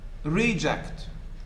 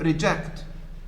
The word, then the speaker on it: reject: As a noun, reject. As a verb, reject.